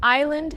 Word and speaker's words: island: Island has a silent S.